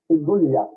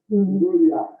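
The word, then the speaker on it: Giulia: You pronounce it as close as an Italian would or could, but the Italian, the G-L-I-A is yeah, Julia. Julia, right.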